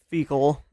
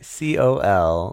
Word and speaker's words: Phicol: Yes, I'm just saying like this whole like thing about Abimelech and fecal and Like, jeez, Emily. What? That's how it's spelled. It's not. It's not spelled that way. Phicol.